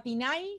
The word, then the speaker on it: TinEye: Una de las herramientas, bueno, que ya se las mostré, se llama Tinay, se escribe así, Tineye, y es .com, o lo buscan en Google y lo encuentran, ¿sí?